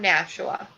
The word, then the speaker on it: Nashua: I'm from Nashua.